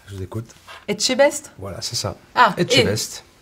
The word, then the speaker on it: Etchebest: Pas facile à prononcer. Je vous écoute. Etchebest?